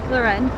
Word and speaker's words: Laurenne: okay thank you what is your first name luren how do you spell that l a u r e n n